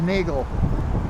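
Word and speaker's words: Neagele: an entryway to uh I don't know how to pronounce that street in a Glee and the Gale something like that n-e-a-g-e-l-e okay my wife says Nagel that could be however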